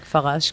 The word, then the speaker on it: Farache: Sur Facebook, Farache, Farache, comme ça se prononce, et en français, pas en hébreu.